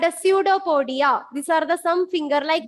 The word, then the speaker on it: pseudopodia: Pseudopodia. Pseudopodia. Even though the spelling is starting with the P, it is pronounced as pseudopodia.